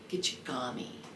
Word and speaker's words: Gichigami: and then Gordon Lightfoot they call it gichigumi but it's probably gichigami is more close to the pronunciation but I just love